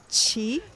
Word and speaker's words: qi: So have you heard of like qi, like Yeah.